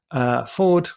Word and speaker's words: Fforde: Ford, for various reasons, spelled with a double F, so F-F-O-R-D. And he is a writer of speculative fiction, I think he calls it.